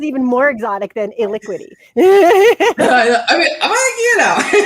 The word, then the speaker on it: Elikqitie: thank you jonathan for having and actually it's a liquidy but i do i like the way you pronounce it better it has like a very